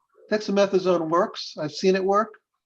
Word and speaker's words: dexamethasone: And so that, I guess the question is about, she said dexamethasone. I don't know how to pronounce that.